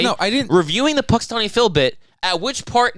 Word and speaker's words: Punxsutawney: don't know dude the Punxsutawney Phil bit I rehearsed it you rehearsed it you didn't say it correctly it's Punxsutawney I rehearsed it when